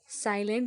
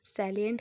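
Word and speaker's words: salient: synonym next आ जाएगा सलिंट साइलेंट नहीं है सलिंट है जिसका मतलब हो जाएगा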